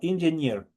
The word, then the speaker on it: engineer: diversidad, tienen esta característica, donde obviamente encuentran en una palabra una doble E unida, el momento de pronunciar, solo el momento de pronunciar es como que ahí estuviera una E, una I. Es por eso que yo digo engineer. No le digo engineer, sino engineer. Es como que ahí estuviera una I.